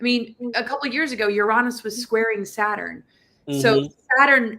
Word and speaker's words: Uranus: aspects so Laura I have to ask you Uranus probably I would venture to say is the proper way of pronouncing it not Uranus is it unless you want to have a